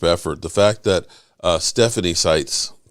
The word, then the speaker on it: Stites: When I say that this whole thing is a group effort, the fact that Stephanie Stites, did I say it right? Stites? Did I get it right? Stites. You got it.